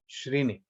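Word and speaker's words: shreni: in in in in srini is is right srini yeah okay and how do you define it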